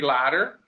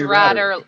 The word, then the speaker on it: Ratter: And then we got Henry Ladder, rhymes with Ratter. No, it's Ratter, rhymes with ladder.